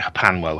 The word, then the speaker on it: HPANWO: Yes, HPANWO. I pronounce it Hapanwo.